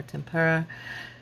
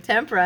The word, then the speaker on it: tempera: I always want to say tempera or tempura. And I was watching Artist Academy and she kept saying tempera. And I'm like, yeah, that's how you say it.